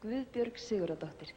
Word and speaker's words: Guðbjörg Sigurðardóttir: You pronounce it Gavudbjorg Sigurd Didoctor. Yes. Let me hear you say it. Guðbjörg Sigurðardóttir.